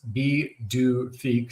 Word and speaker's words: Pituffik: So they're calling it Pituffik Space Base, pronounced B-2 Fic.